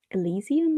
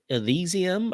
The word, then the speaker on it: Elysium: that is not that small disco Eliza I pronounce that Elysium I think Elysium uh by Andy J dope son yeah stop